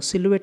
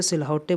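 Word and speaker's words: silhouette: तो देखिए मैं क्या कर रहा हूँ, सिलुएट इसे बोलेंगे, सिलुएट। अब बहुत से लोग इसे सिलहौटे बोलेंगे, ऐसा गलत है, सिलुएट बोलेंगे।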